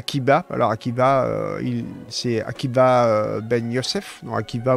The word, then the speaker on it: Akiba: alors Akiba il s'est Akiba Ben Youssef qui va vous l'écrivez soit avec un V sur avec un B ça se prononce B Rabbi Akiba Youssef enfin